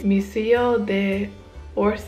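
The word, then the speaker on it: Musée d'Orsay: say it because I know I'm going to pronounce it wrong it's missio de orse I have more of a Spanish accent than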